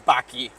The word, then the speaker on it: Baki: Your nickname is Baki. Rhymes with Tati.